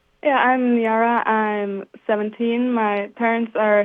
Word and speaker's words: Niara: Next up from Centerville, we have Nara. Is that how it's pronounced? Yeah, Nara.